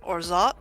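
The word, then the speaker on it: orgeat: It's actually apparently pronounced Orzot and it's used in things like my ties.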